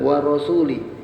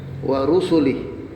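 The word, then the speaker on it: ورسله: waik wtubi wausuli warusulih ya bacanya bukan warasuli wa rusulih rusuli itu artinya para rasul kalau wa rasulih satu saja nabi ya war rusulih Ya.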